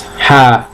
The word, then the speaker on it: half: the British version it's half past five remembered you don't pronounce the L in the word half all right you say